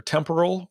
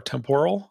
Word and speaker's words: Temporal: And a thing that we've been working on, there are two ways to pronounce it, either temporal or temporal. I usually say temporal, but whatever.